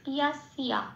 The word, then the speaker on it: যস্য: আরেকটা কথা, এখানে যন্ত্রী স্বয়ের উচ্চারণটা বাংলা উচ্চারণের মতো হয় না, সংস্কৃততে যন্ত্রী স্বয়ের উচ্চারণ সারেগামা পায়ের যে সাটা বলি ঠিক সেরকম। তাহলে উচ্চারণটা কি পেলাম? শব্দের সংস্কৃত ইয়াসিয়া এটা। আসি পরের শব্দে সার্বে।